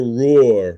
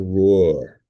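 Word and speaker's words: Ruhr: I should say this is why Belgian and French troops occupied the Roar region. That is spelled R UHR, the Roar region.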